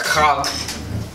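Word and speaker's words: חג: It's C-H-A-A-G, that's Chag, and Ha, Sawakwath, is Feast of Booths.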